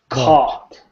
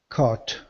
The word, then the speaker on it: caught: Don't pronounce the GH.